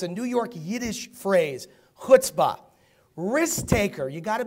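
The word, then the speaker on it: chutzpah: to Lemonade talk about that today number three hutzpah you know what I pronounce that but how can you write it c-h-u-t-z p-a-h it's a New York Yiddish phrase hutzpah risk taker you got to be a gambler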